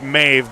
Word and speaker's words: Maeve: I could I mean it's Maeve but I always call her maybe because it's m-a-e-v-e so we'll just say it rhymes with that there you go we